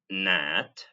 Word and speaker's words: gnat: But the G is always silent as in gnat, gnome, gnaw, gnash, and gnarly.